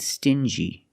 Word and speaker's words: stingy: differently example dingy and stingy these two words have the regular n Sound n plus the J like juice together sting G together stingy or d g together dingi this wall is very